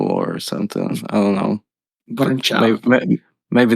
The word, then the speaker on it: Brnčal: I mean, it's Brnčal, but I mean, you can pronounce it like Brnčal or something like that.